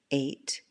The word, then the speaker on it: eight: eight eight or wait the GH is silent in these words eight or wait a plate or mate